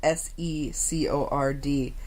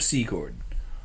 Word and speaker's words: Secord: That's sad, because it's spelt S-E-C-O-R-D. How is that Secord?